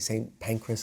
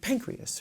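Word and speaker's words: St Pancras: like and you know the railway station in london right same pancreas i'm sure not pronounced again like the correct english way but but it sounds like pancreas right and then like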